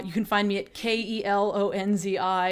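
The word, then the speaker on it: Kelonzi: can find me at k-e-l-o-n-z-i it's pronounced kalanzi and it was indeed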